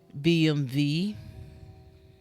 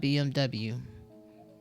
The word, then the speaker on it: BMW: pronouncing BMW incorrectly because W doesn't exist in German from what I understand it's pronounced as a v so it would be BMV and not BMW s on Tik Tok